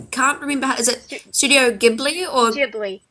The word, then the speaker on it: Ghibli: guess I personally just because in Japanese there jeez um they don't have hard and soft geez it's just one um which is that's the hard G right with the good